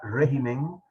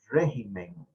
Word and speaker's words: régimen: palabra porque vean que la palabra régimen en singular tiene el acento en la e régimen pero cuando nos pasamos al plural estamos en clases de español en este momento el acento la tilde verdad se brinca de la e a la i Entonces se pronuncia regímenes que no les vaya